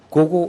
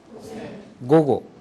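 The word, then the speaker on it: 午後: 여기에 잘못 발음해 갖고 길게 발음하는 경우가 있어요 고젠 고고 이렇게 발음하면 틀리게 되죠 전부 다 짧아요 고젠 그다음에 고고 이렇게 됩니다 해보세요 고젠 고고 고고음 이렇게 짧아야 고젠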